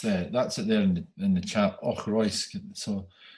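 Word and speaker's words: Auchroisk: That's it there in the chat, Ochroysk.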